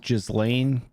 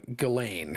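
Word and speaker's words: Ghislaine: and I think it's actually pronounced uh galain not the yeah the the Z is silent I know where galain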